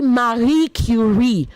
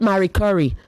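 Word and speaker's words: Curie: And then you say Marie Curi. Not Marie Curry. Please. She's not a spice my darling. Marie Curi. Okay. That's how you say her name.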